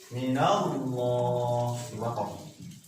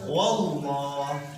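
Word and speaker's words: الله: Minallah. Coba. Lafaz Allah sebelumnya fathah. Yang tadi lafaz Allah ini lafaznya. Lafaz Allah sebelumnya harokat fathah atau sebelumnya fathah. Ya. Cara membacanya harus tebal ke lafaz wallah, minallah.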